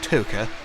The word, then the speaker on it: Toca: I always call it Toca. I don't know why, but it's pronounced Toca.